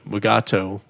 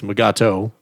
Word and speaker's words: Mugato: our biggest complaints from here's another one that i butchered when we did it the mugato that's something we got two it's magato it's whatever you want it